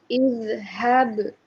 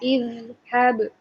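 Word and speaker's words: اذهب: Izhab. Ya. Izhab. Nah, seperti itu. Jadi suaranya yang mengalir, nafasnya tertahan.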